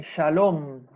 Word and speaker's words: shalom: Y acá vamos a tener la diferencia en que si el puntito está de este lado, va a ser una shin, va a tener un sonido shin, como por ejemplo, en shalom.